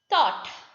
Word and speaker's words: thought: Thought, Thought. U is the vowel followed by GH. So THOUT.